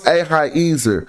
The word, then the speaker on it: Ahiezer: But anyway, so it's Ahiezer.